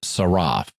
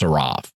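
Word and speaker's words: שרף: the word translated fiery serpent is saraf and it's related to a verb that is also pronounced saraf the verb means to burn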